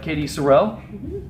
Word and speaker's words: Katy Sorrel: Today with us we have Katy Sorrell.